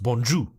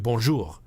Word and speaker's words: bonjour: canadian speakers that say bonjour but you're not supposed to pronounce the r that way and i was saying that from my understanding it's supposed to be bonjour so you get that